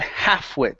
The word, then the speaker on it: halfwit: next up is uh the word halfwit so here remember the L is silent okay so this is